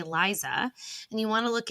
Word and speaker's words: Liza: because you want to look at Lisa's name and say Liza and you want to